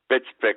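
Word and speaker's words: Btfsplk: of little Abner Fame bitsi is spelled btfs p i k I hope I know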